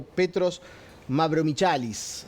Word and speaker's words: Petros Mavromichalis: Nos está visitando Petros Mavromichalis, así se pronuncia, griego de nacimiento, pero habla muy bien